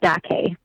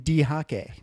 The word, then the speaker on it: Dake: See, I was almost there. Because you've got two Japanese syllables.